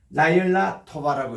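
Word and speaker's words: לילה טובה: 요거는 아로 끝나니까 토부도 보면 토바라고 끝나야 돼요. 요게 이제 아로 이렇게 끝나니까 요거 이제 다시 이렇게 음력을 하면은 라열라입니다. 라열라 토바라고 읽어야 돼요.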